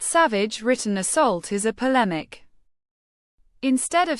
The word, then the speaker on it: polemic: Polemic. Pronounce it as polemic, rhyming with academic.